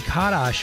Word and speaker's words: Karas: Here's Jimmy Sturr in the orchestra, Johnny Karas, or as they say in Buffalo, Johnny Kadash, which is the Polish pronunciation of the surname.